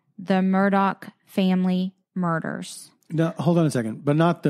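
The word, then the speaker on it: Murdaugh: a podcast called the Murdoch family murders no hold on a second but not the Murdoch like rubert Murdoch no it's spelled like mdal okay just so people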